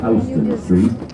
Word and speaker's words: Houston Street: comes into it called Houston Street. Soho is south of Houston Street. Houston is spelled exactly like the city in Texas. It's pronounced differently for a reason.